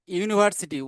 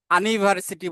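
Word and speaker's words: university: Rahim is এ ইউনিভার্সিটি student, এইখানে এ হলো কেন, ইউনিভার্সিটি উচ্চারণ করতে ইউ এর উচ্চারণটা ইউ এর মতোই আছে এখানে, যে কারণে এ হলো।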